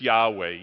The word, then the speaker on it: Yahweh: There's no J in Hebrew, okay?